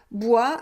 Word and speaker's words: bois: un feu de bois bois attention ne prononce pas le s final un feu de bois avec les bûches buch